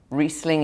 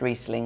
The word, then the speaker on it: Riesling: I would just like more people to realise that Riesling is A, pronounced Riesling, not Riesling, and B, doesn't have to be sweet.